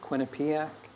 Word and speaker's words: Quinnipiac: I was at I don't know if I pronounced it correctly Quinnipiac yep that's correct yeah yeah and I was